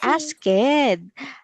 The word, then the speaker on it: asked: So it is silent E. You will not read the E sound or sound. You will only read the D, the sound.